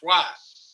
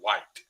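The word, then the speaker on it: Wyatt: you're saying a name that's w-y-a-t-t why but that's just how we pronounce it here and after about a year I slowly transitioned until I started actually saying White the words I got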